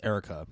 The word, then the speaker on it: Eureka: on a series called Erica 7 now ER 7 no no Eureka 7 Eureka 7 Erica 7 I don't know they pronounced as Erica so anyways it was